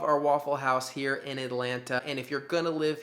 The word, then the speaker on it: Atlanta: One of the T's in Atlanta is silent.